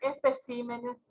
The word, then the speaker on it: especímenes: Espécimen en singular, especímenes en plural.